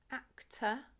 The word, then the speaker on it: actor: in the English language so we don't say act or or teacher is actor actor actor and teacher teacher teacher so your